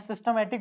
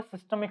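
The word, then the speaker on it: systemic: करते हैं है ना मैं सिस्टमैटिक बोल रहा था क्या इसका एक्चुअल जो प्रोनंसिएशन है वो सिस्टमिक सर्किट सिस्टमिक सर्किट ठीक है सिस्टमिक सर्किट और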